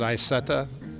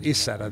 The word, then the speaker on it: Isetta: We pronounce it Isetta. In Germany, they pronounce it Isetta. They don't pronounce the I.